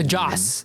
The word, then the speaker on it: Joss: it was like stated that none of the josh whedon that's his name okay i'm just making sure i pronounce all this just just no joss okay josslyn um none of his footage was